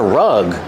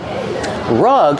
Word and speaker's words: rug: Oh, that's a rug. Rug has the short uh sound like cup and up.